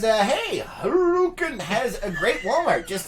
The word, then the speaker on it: Hurricane: Ann says, hey, Harukin has a great Walmart. Just saying. Oh, my goodness. Harukin. I just... What? I can't. Oh, and I was talking to somebody the other day about Hurricane. Harukin.